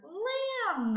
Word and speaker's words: lamb: Let's say this word, lamb. Lamb. Now we hear the M. We do not hear the B.